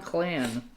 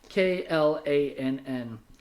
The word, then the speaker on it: Klann: Then Vito Cannella and John Clan, but spelled with a K. Klann.